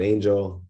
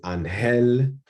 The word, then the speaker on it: Angel: Is it Angel? Is it Angel? Is it Angel? How the French say. I do come from Dominican Republic. Spanish is my first language. So I go by all three.